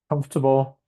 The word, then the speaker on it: comfortable: Comfortable. Students don't know where to put the stress in the word. If you look here, this little sign indicates that it's the first syllable that gets the stress.